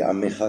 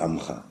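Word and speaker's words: עמך: mais chez les Sfaradim, on dit Amecha quand même. Bon, finalement, on prendra l'habitude de dire Amcha. Mais n'oubliez pas qu'il y a un dagesh.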